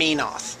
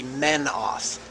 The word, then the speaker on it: Menoth: much so Saar and minoth is supposed to be menoth doesn't make any sense